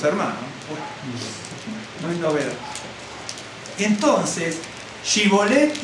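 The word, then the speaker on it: שיבולת: Entonces le decían, ahora pues di Shibolet, y él decía Sibolet, porque no podía pronunciarlo correctamente.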